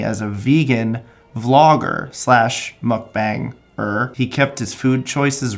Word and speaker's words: mukbang: of the genre called mukbangs, or mukbangs. It's spelled B-A-N-G. So I'm going to say mukbang, because that's how it's phonetically spelled, and that should be the correct way.